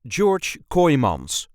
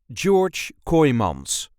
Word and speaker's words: George Kooymans: This is the way we say George Coyons. George Kyims. George Coyons. There is a light emphasis on the first syllable of his second name. George Kymans.